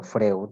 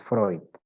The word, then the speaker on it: Freud: Se pronuncia Freud, no Freud, muchas veces escucho a los alumnos decir Freud, es Freud, ¿ya?